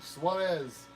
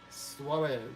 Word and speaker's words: Suarez: SW Suarez. That's Now I pronounce it properly. Charlie Suarez. Suarez. Suarez. Suarez. There you go. I kind of get like a light D sound in there. Suarez.